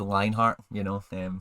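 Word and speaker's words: Lienhart: It's spelled like that, but it's said Lionheart, which is cool.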